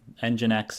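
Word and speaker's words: NGINX: We're going to use an open-source software package called EngineX. It's spelled NGX and EngineX is developed to help automatically balance the load between multiple servers or multiple applications that are running.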